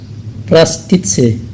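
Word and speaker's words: простите: Tapi di dalam bahasa Rusia, permisi itu adalah prostitse, ya, prostitse. Nah, dalam tulisan Rusianya itu terdapat huruf O. Nah, huruf O-nya juga tidak diucapkan, tapi diucapkan A, maka menjadi prostitse, ya, prostitse.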